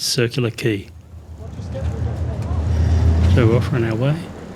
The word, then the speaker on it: Circular Quay: isn't very common and many people mispronounce it as kway believe me you don't want to be laughed at it's circular key so we're offering our